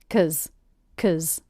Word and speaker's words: 'cause: Again, them reduced to Also, did you notice I reduced the word because to simply 'cause. The K, schwa, Z sound.